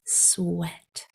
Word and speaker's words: sweat: So the sounds are s, w, eh, t, sweat. If you were tempted to say sweet, that is spelled with a double E in the middle. Sweet. This word is sweat.